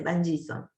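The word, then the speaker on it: Van Gieson: se llama vanen son se escribe con g van con b corta separado henson se dice bison Sí profe Entonces lo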